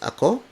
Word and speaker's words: ako: The second word is ako, spelled as A-K-O. It means I. Ako, ako, ako. Sa is spelled as S-A.